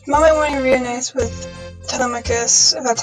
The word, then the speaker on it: Telemachus: this chapter the mommy wanting to realize with telemachus that's how you pronounce his name is done it's pretty heartwarming